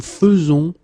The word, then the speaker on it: faisons: The first one here for pronunciation, nous faisons, and the second one here because you write it like that and it's not vous faisiez but vous faites.